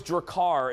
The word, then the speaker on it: Drakkar: just have some crappy male perfume who's jakar drakkar what do your car i said it right dracar no i love that jeffrey's correcting me about 90s cologne pronunciations decline was that it was dracar and it was in a black bottle and